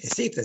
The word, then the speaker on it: Heceta: he discovered the bank, that should be the real name, Heceta Bank, without pronouncing the H. Heceta, Spanish, because he was Spanish, captain of that ship,